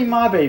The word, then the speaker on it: Mabe: I used to call it Mabe Village. It's actually Mabe Village based on Japanese pronunciation.